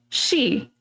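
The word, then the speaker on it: 四: The number four she is pronounced the exact same word for death.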